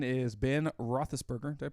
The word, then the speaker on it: Roethlisberger: And then number 9 is Ben Roethlisberger. Did I pronounce that right?